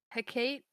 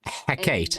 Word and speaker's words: Hecate: Hecate, which is how apparently you say her name, is the goddess of witchcraft, the night, Hecate.